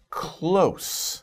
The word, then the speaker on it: close: Close. Now, be careful about this word, because there's two pronunciations, two different meanings, right?